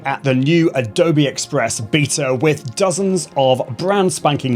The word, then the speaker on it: beta: Now, first things first, for my American audience, I am going to be pronouncing it beta, not beta, but hopefully we all know what I'm talking about.